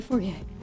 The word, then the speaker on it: Fourier: My brain wants to pronounce that in the French way, Fourier.